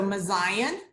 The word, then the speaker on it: Mouziane: had people tell me if I make the comparison to Mount Zion that it helps click for them so messiaen it's pronounced